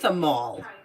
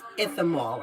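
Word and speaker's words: Ichthammol: It's called if you want the best of the best Ithamol, but it looks like Ichthamol. But it's pronounced Ithamol, and the only reason why I know that is because I heard a dermatologist say it.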